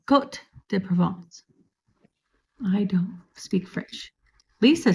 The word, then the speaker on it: Côte de Provence: How do you pronounce that? Côte de Provence. Côte de Provence.